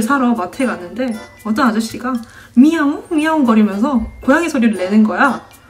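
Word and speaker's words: 你好: 왜 고양이 소리다라고 생각했냐면 니야옹 이런 식으로 발음했단 말이에요 응 이렇게 이게 뭐예요 프랑스어의 비모음 앙 응 응 이거 비강을 써가지고 이런 식으로 발음하는데 이게 니하오 이건 이제 어떻게 알아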